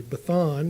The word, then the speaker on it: Bashan: A Bathan is how you would pronounce it in Canaanite.